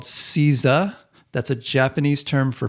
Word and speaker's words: Seiza: So it's Seiza. That's Seiza. I believe that's the correct pronunciation.